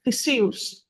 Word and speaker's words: Theseus: story and he gets all credit okay it's Theus oh yes saying that I the I had